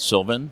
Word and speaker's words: Sylvan: That's it, Sylvan. Yeah. Sylvan. And how long you been in business? 28 years next month. 28 years. Yeah. Wow. And where you're from? Downtown Sylvan, Ontario. Population 25. Coincidentally, Sylvan Scale Models.